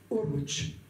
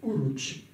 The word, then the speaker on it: Oruç: donné par ses hommes, a prononcé en turc Oruç. Harouj c'est Oruç, et qui s'est donné Baba Oruç, déformé en Barberousse, en latin, dans les langues latines.